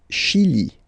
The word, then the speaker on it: Chili: Le Chili, le Chili. Okay, remember, C-H, sh, okay, Chili, le Chili.